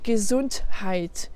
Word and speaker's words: Gesundheit: donné des exemples, mais on le trouve parfois aussi à l'intérieur d'un mot. Et donc là, c'est quand il est au début d'une syllabe. Par exemple, dans sich unterhalten, unterhalten, sich unterhalten, die Gesundheit, die Gesundheit. C'est pas die Gesundheit, die Gesundheit. Là, il y a le ha.